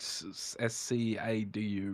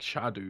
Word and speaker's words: Scadu: is actually yeah but it's Old English it's just pronounced like Shadow tree you know basically Shadow